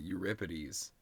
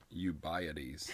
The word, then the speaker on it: Euripides: It says your rip ities. Euripides.